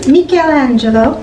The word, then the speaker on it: Michelangelo: craft which I prepared for the children to pronounce his name in Italian is makea Angelo buona bharathi make the Langevin Avanti so he